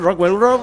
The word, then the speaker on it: Rockwell Road: Estamos con nuestros amigos de Rockwell Road, que lo he pronunciado bien, Rockwell Road.